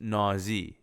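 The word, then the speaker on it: ناز: English letters saying sweet and my language is pronounced nause nause right like cute how adorable so she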